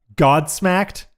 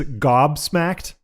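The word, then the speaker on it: gobsmacked: down on his mispronunciations like uh God smacked is one he says a lot even still over the years even though it is Gob smacked and most of us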